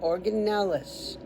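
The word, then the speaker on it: organelles: Each neuron contains a nerve cell body with a nucleus and organel an organelis organ. and then E L L E S like Ellis.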